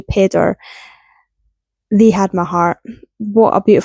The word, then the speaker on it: Pedr: Pedder, it's spelled Pedr, so I'm going to say Pedder.